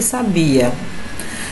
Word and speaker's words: sabia: Então observe aqui, gente, a mesma palavra, porém com sílabas tônicas em determinado lugar. Ó, sábia, sabiá e sabia. Parece ser a mesma coisa, mas não é não, gente. Observe aí a tonicidade.